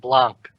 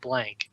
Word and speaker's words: Blanc: who or I guess how' you pronounce it because there's no K so it's it's not blank it's like Blan Blan no you can say Blan it's like French Blan yeah yeah you say